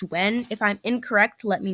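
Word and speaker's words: Nguyen: we have Kim Wen I know it's spelled like nayugen but I had a math teacher whose last name was like this and it's actually pronounced when if I'm incorrect let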